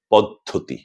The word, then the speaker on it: পদ্ধতি: কাজেই আমরা মেনে নিতে পারি যে এই শব্দটির সঠিক বা প্রমিত উচ্চারণ হচ্ছে পদ্ধতি। পদ্ধতি।